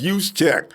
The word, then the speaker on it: Juszczyk: Because more than likely, it's going to be a dual-back situation with Kyle Juszczyk. Tyler, don't call me up and tell me how to say the name. That was it. That was Juszczyk, all right?